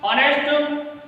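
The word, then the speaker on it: honest: अगला जो वर्ड हमारा ऑनेस्ट, हालांकि यह शुरू तो हो रहा है, जो लेटर है वो हमारा कॉन्सोनेंट है, लेकिन जब हम इसका प्रोनाउंसिएशन करेंगे तो जो हमारा साउंड निकलेगा वह हमारा वॉवल साउंड निकलेगा, इसलिए हम इससे पहले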